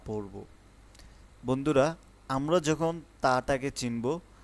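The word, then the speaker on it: ت: তা উচ্চারণ করব হচ্ছে জিহ্বার আগা থেকে।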